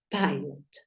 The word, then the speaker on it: pilot: a dar cuenta que la I suena ay. Entonces tú ya lo tienes todo. Porque sabes que esta primer parte va a sonar pie. Pie. Listo, ya tenemos la pronunciación de la primer parte. Espérate, lo escribo en verdecito para que sepas que es la primer parte. Listo. Y la segunda parte termina en consonante. ¿Suena igual? Entonces tú dices pilot. Pilot sería la pronunciación de esta palabra, ¿verdad?